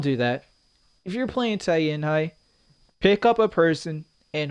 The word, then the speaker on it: Tianhai: He actually said his name. Thank you for actually correcting me. Tianhai. There you go. Said it right.